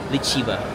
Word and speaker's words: Liziba: Pero actually yung pag-pronounce nung nasa teller sabi niya lehiba. Sabi niya, "Where are you going?" Sabi ko, "Liziba." Sabi niya, "Lhiba." So, libba pala yun. Yung letter Z. Lhiba.